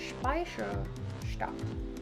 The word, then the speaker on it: Speicherstadt: Then we walked on to Speicherstadt.